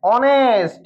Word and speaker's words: honest: অনেস্ট, হ এর উচ্চারণ অ হয়, তাহলে কি বসবে এখানে?